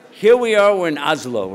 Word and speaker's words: Oslo: Here we are, we're in Oslo, right? Oslo, that how you say it? Oslo or Oslo? Oslo. Oslo. Yeah. Not too slow, just Oslo. Oslo?